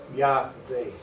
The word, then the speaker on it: Yahweh: The rabbi thought for just a moment and he said, Yahweh.